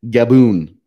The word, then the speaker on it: Gaboon: It's Gaboon. Yes, it's spelled like Gaboon. No, that's baboon you're thinking of. Oh. I said gaboon. Like kaboom? Like kaboom, but with a G.